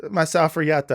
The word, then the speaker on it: Masafer Yatta: I pronounce it. Masafer Yatta. Yeah, Masafer Yatta.